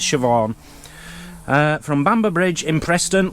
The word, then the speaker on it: Siobhan: This is a gift to Dan and Mazzy from Stuart, and it's actually Siobhan. That's how you pronounce it, I believe. But it's spelt... I can't see it now. Siobnan. Siobnan. It's Irish Gaelic.